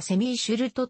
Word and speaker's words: Semmy Schilt: からて 6 弾オランダ語では sems 昼と英語ではセミーシュルトと発音される 1994 年の北